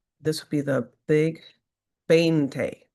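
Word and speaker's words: veinte: So it's pronounced bane like this would be the big bente bente. Right? So the V is a B so sound.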